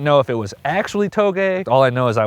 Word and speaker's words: touge: if it was actually Toge all I know is I want to go driving the mountains first of all the way you pronounce it is to Toge and this area we're